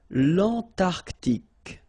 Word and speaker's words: Antarctique: Remember, Q-U-E here, it's K, okay, so tic. L'Antarctique, l'Antarctique.